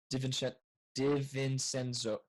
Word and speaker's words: DiVincenzo: And Sacramento got Dante DiVincenzo.